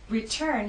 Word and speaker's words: return: Return has two syllables, but it's the second syllable that is stressed. T is at the start of that syllable, so we say return.